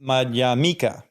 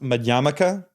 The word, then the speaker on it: Madhyamaka: poly words is that the stress is always on the second to last syllable M mik right Mika